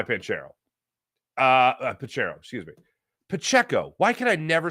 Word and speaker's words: Pacheco: on the inside run by pent Carol uh panchero and then the other one on the outside run by panchero uh pachero excuse me Pacheco why could I never say his name right